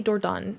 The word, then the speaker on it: Dordogne: Yeah, I think they say Dordogne in the game. That's how you pronounce it.